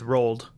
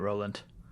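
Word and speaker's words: Roald: it I think it's roled roled doll yeah okay my bad not Roland I know I that felt wrong as it was coming out but but to be fair rol is a weird name okay it is but you'd be adding letters in there to make it rollant I know that don't exist I know that's true well they exist it's not in that name um okay so is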